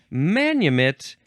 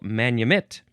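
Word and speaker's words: manumit: Um manit is pronounced basically like I'm saying the emphasis on the last syllable manit.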